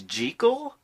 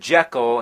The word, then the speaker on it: Jekyll: pissed off lately you know that the proper pronunciation is G Cole that's what the author of the novel insisted